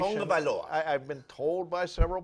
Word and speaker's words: Tagovailoa: I'm trying to correct my pronunciation. Tagovailoa.